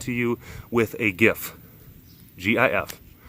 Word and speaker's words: GIF: GIF. I think it's pronounced GIF. Even the man who invented the format said it was GIF. It's G is a G.